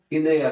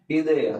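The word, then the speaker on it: idea: इन सबको इंग्लिश में इदया कहते हैं। स्पेलिंग सेम है लेकिन जो प्रोनंसिएशन है वो अलग है। हम इंग्लिश में कहते हैं आइडिया और इसमें कहते हैं इदया।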